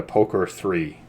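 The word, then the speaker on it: POK3R: I am using a Poker 3, which is spelled POK 3R, in case you want it to be cool.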